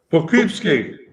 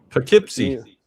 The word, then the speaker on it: Poughkeepsie: Poughkeepsie. Poughkeepsie.